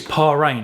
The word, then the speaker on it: Paragn: I think it's Paragn.